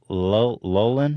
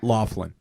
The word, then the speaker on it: Loughlin: from Full House Lori Lolan how do you say her name I don't know Laughlin Laughlin that's a weird one that's like Irish right heard thought so this